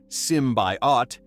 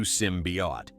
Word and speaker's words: symbiote: The first teaser in February 2018 drew flak for teasing without revealing Venom and botching the symbiote pronunciation as Simbought, quickly corrected to Simbi.